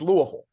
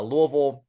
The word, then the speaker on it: Louisville: So, it's it's it's Louisville. Uh Louisville. There's no Louis.